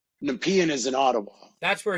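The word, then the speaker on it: Nepean: So NP pronouncing it correctly. It's Nepian. Nepian is in Ottawa. That's where he's that's where Carney's running and and Nap is near Kingston. Thank you. It's Nepian.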